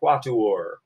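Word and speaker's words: quattuor: are quatuor tempora Anees everybody hold up four fingers and say quatuor good that is like the words you learned in French and Spanish it is three syllables long everybody four fingers up and say it cuatro or so there are quatl or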